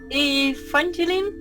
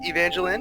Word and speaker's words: Evangeline: Down where we are, we just say Evangeline, so kind of like more like the name Lynn. Either is right, say it however you want. But yes, Evangeline is what we are working on right now.